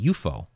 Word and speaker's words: UFO: the term UFO Rupo didn't call it UFO he called it UFO so he just pronounced the whole the whole thing as a word rather than each individual letter so kind of interesting